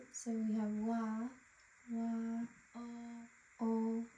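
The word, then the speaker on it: を: O. So the wo is pronounced just o.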